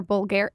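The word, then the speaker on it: Bulgari: you're an investor in COD US ambassador for bulgar I pronoun everything wrong okay how do you say it bulgary bulgary jewelry I mean very that partnership um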